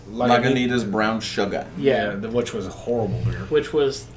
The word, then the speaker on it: Lagunitas: Lagunitas? Lagunitas Brown Sugar.